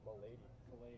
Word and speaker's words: Milady: how do you say your last name? Milady. Milady. Milady. We got confirmation.